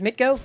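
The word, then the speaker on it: MTGO: Also, why the hell the way to pronounce the acronym is Mitgo?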